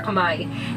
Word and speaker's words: Khmer: The style of architecture of Cambodia is referred to as Khmer, or locally pronounced Khmer or Khmer.